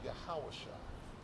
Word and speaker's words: Yahawashai: And his name is Yahawashai. That's how you say it in ancient Hebrew.